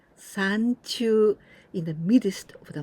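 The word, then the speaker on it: 山中: San, but here we pronounce in onyomi, sanchu, in the midst of the mountain or in the mountain.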